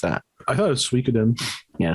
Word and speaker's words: Suikoden: Or do you say Suikoden? How do you pronounce that? I thought it was Suikoden.